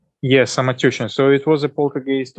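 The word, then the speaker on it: Самотёчная: I'll let you do the pronunciation. Mm-hmm. Poltergeist on Samotechnaya. Samotushin. Okay, tell us about this. Samotechnaya. Samatushna. Yes, Samotechnaya.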